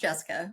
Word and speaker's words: Jessicah: Not, it's still pronounced Jessica, but throwing that out there.